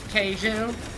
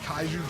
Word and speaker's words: kaiju: I'm pretty sure it's pronounced Keiju. Oh, fuck off. Bringing back those ancient free streaming names. Yeah, you deliberately mispronounced kaiju just to trigger me.